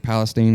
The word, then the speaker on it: Palestine: No, I mean, like as far as Lake Palestine, that's how you say it.